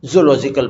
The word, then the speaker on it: zoological: a park for, यानी आप इसे क्या बोलेंगे, zoological बोलेंगे.